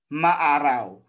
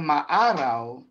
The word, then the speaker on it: maaraw: Sa tingin ko po, ang salitang maaraw ay malumay. Kasi po, kapag binilisan ko yan, maaraw. Iba po yung bigkas nun So ito po ay maaraw, mabagal na binibigkas, at the same time wala pong impit na tunog.